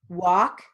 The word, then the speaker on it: walk: Now, moving on to silent L words with sentences. So we have half, palm, talk, psalm, walk, folk.